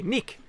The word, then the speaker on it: Neek: Pronounce it like Neek, like need. Okay, Neek, welcome.